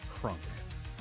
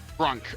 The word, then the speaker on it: Krunk: Didn't know exactly how to play and uh we he made this uh half orc barbarian named Krunk. Crunk. What? Okay, spell it. K R U N K. Crunk.